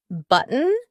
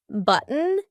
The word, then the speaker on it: button: for example the words button gotten eaten important do you notice that my throat is stopping that t sound in the middle of the word listen again button eaten gotten important here